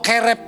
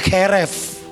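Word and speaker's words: חרב: Kata pedang ini pakai kata keref atau kerep bacanya, keref.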